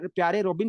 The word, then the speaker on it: Pierre Robin: That is your प्यारे प्यारे रोबिन sequence. खैर मजाक कर रहा हूँ, इसका जो सही प्रोनाउंसिएशन है, that is पियर रोबिन sequence, पियर रोबिन sequence.